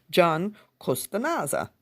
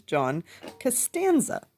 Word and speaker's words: John Costanza: Now, for days, I've been reading these books and I've been pronouncing his name John Costanza. I don't know why. I thought that that was his name. It is not. It is John Costanza.